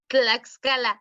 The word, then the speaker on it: Tlaxcala: Yeah, how do you pronounce that? Tlaxcala.